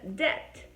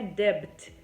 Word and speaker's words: debt: Por exemplo, na palavra debt, tá? Então não é debt, é debt, ok?